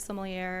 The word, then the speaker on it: sommelier: have this whole thing it's sommelier sommelier so that's a big debate i think you know technically sommelier um however i've heard similar and and nobody really corrects